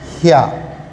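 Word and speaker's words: ひゃ: ही के साथ छोटा या लगा देंगे तो ये हो जाएगा ह्या।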